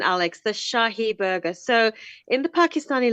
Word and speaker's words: Shahi: You're on point with the pronunciation, Alex. The Shahi burger.